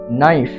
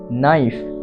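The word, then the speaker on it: knife: আকার হসই নাই যুক্ত ফান নাইফ নাইফ অতএব ইংরেজি শব্দে কে এর পরে এন আসলে কে সাইলেন্ট থাকে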